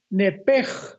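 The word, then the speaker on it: נֶפֶשׁ: Pero la la sh en el hebreo se pronuncia como J. Entonces se pronuncia nepeg con la J al final.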